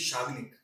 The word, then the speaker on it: Swagnik: Sir, actually, the name is Swagnik, Okay. but as the pronunciation changes in English, so my grandmother added a W on it.